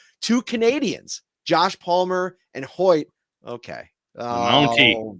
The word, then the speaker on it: Hoecht: with the addition of Michael Hoy am I saying it correctly yes Hoy I looked it up all